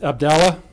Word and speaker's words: Abdallah: Charged is Abdallah, I'll spell that for you, A-B-D-U-L-L-A-H, Amer, A-M-E-R, 18 years of age, and Balal, B-A-L-A-L, Jeha, J-E-H-A, 19.